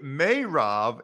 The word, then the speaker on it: Meirov: appreciate your ass thanks there he is mayrav now that i know how to say his